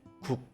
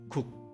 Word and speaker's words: 국: Not saying the final K sound, you have to block the airflow and say 국 and stop. Do you understand? Let me read again. 국, 국, not 국 or 국.